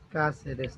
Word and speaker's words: Cáceres: Cáceres, con acento en la primera A, me imagino.